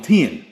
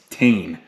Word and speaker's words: Tein: actually called them cuz I used to call them ten it's not ten it's tan so I know I'm